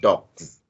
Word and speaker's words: dogs: So the difference is in stomachs, it sounds as s. And what about dogs? The s in dogs, it sounds as what? Z.